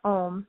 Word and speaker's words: Om: the purpose the seed mantra ohm is made up of three syllables a U and and phonetically translates to ah ooh mmm this represents all aspects